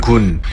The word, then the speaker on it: 君: 이 글자의 발음은 군, 뜻은 임금, 부수는 입구, 총 7획입니다.